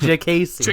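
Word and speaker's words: Diakiese: I thought it was Diakasi. Jacasey. Mark Diakasi. JKC. Mark Diakasi. JKC. Jacasey. With like a J. JKC. It's Jagacy. D-I-A. Listen, this is how it's pronounced. JKC.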